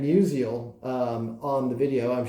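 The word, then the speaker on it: Musial: The reason why I chose him, quite frankly, is because my two knucklehead sons pronounced it Stan musical instead of Stan Musiel um on the video.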